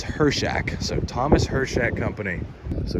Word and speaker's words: Hirchak: it's very frustrating please use cruise control or just drive better so here we are I've been pronouncing it wrong the whole time it's her Shack so Thomas hershek company